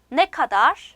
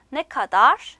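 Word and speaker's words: ne kadar: 네카다 네카다 얼마예요? 네카. 자, 여기도 마찬가지로 R로 끝났죠? 바람소리 조금 바람 빠지는 소리 내 주시면서 네카다 렇게 발음해 주시면 좋겠죠?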